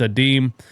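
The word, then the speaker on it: Adem: His name's not Adam, it's Adim.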